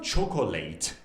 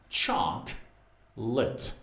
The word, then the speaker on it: chocolate: It's not chocolate. It's chocolate. Chocolate. Chocolate. Chocolate. Chalk. That's a long vowel. Chalk. Lit. That's a schwa.